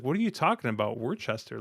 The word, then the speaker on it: Worcester: I can tell you're not from Boston because I'm pretty sure the 7 is pronounced Worcester, even though Worcester? it's spelled Worcester, Oh because man.